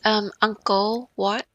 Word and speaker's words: Angkor Wat: I probably Do you know how to pronounce that because I'm probably not pronouncing properly. Yes, Angkor Wat.